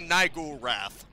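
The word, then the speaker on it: Niggurath: wrath awaits you also I'm more careful with the pronunciation this time I'm aware of what that could sound like at least don't think anything of it at the time but yeah I'm just gonna say naiku wrath it sounds cooler anyway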